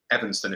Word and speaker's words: Evanston: So the distillery is located in Evanston, if I'm pronouncing that rightly. Correct? Yes.